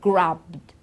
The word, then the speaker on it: grabbed: look at some examples so grab we've got grabbed okay beg begged okay use used listen listened